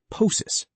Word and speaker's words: ptosis: pt is pronounced as a t, like in ptosis.